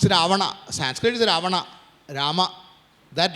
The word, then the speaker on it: रावण: Ravana has become Ravan. It's not Ravana, it's Ravana.